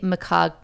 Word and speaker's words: McGonigal: There's a woman named Kelly McCoggle. McCoggle? That's a very funny name. Is that really your name? You spell it.